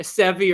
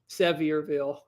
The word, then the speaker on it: Sevierville: the worst one is i always used to call that a sevi or the locals didn't like that one sevierville oh yeah i gotta